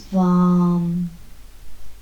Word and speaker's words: VAM: Before we move out of this pose, we'll repeat the seed syllable for our sacral chakra, which is VAM, V-A-M, VAM, VAM, VAM.